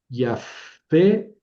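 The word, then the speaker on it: יָפֶה: Sí, pero sin A ver, esto no lleva dages, entonces suena F. Y a fe.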